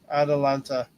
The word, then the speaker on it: Atalanta: will self destroy eat brownie wants me to pronounce Atalanta uh Atalanta correctly Tony trying to keep Alonzo away from